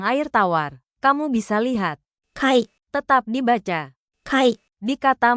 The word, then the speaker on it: 貝: Kamu bisa lihat Kai, tetap dibaca Kai, di kata majemuk.